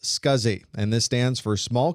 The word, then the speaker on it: SCSI: The abbreviation SCSI is pronounced SCSI and this stands for small computer systems interface.